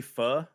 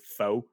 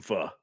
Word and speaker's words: Pho: if anybody's had it it's spelled Pho a lot of people pronounce it foe I love Vietnamese food Vietnamese food is amazing and fur is like the top